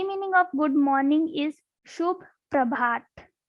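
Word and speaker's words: शुभ प्रभात: The Hindi meaning of good morning is Shubh Prabhat. How we will pronounce this word? Like Shubh Prabhat.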